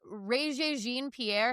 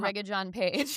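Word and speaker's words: Regé-Jean Page: You said Rea Jeene Pierre. His name is Ra John Paige.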